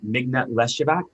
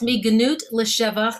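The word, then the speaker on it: מגנות לשבח: After your LGBTQ Passover theology, but you talk about, and I'm going to mispronounce this, so I need you to correct me. But the Mignat Leshavak, the from degradation to praise. Yes, Miganut L'Shevach.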